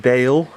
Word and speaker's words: Baal: got which is I'm I think you pronounce it Bale V2 that so this is